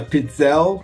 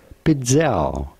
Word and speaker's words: pizzelle: And then there was the Pizzelle maker, and that's how you pronounce it, I think. I looked it up, and that's kind of what the guy was saying. They are called Pizzelle. Pizzelle. Pretty straightforward.